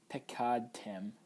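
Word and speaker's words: פְּקַדְתֶּם: If we were to break this into syllables, it would look like this. Pekad tem, pekad ten.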